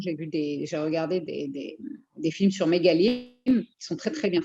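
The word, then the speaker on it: מגלים: Comment ça s'écrit? Mégalim, comme ça se prononce, Mégalim.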